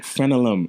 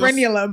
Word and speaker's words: frenulum: She's like, frenolum. I was like, yeah, yeah, you know, he's still saying it wrong. It's frenulum, but he's still going to